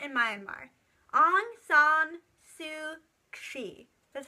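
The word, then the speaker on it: Aung San Suu Kyi: a democracy movement in my own mark on song sue she that's how you say it I'll put it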